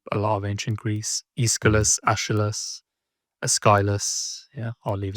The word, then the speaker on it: Aeschylus: Yeah, so I think the correct pronunciation is Aeschylus. Okay. I thought it was Aeschylus, so I just wasn't sure.